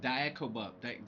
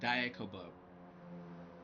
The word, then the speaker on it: Diakobub: Diakobub. Diakobub. D-I-A. How do you spell it? D-I-A-K-O-B-U-B.